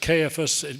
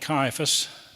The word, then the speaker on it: Caiaphas: and what he is it's pronounced cifas we we probably call it Caiaphas that strike a bell